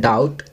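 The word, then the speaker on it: doubt: Second, डाउट, B silent है।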